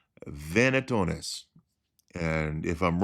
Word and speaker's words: venationes: an animal hunt and I really do believe it's pronounced vetonis and if I'm wrong